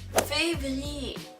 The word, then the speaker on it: février: Febrero se dice muy parecido, février. Février. La B corta realmente se pronuncia V y no se pronuncia B.